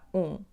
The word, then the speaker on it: um: We start with the first word "um" - we never read the letter "m" at the end of words , so we'll only have the sound /ũ/ nasal because of the letter "m".